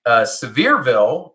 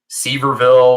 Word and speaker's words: Sevierville: Yeah, like Sevierville, I finally learned how to say it right too, right? I probably back in the day would see it and call it Seaverville or something like that.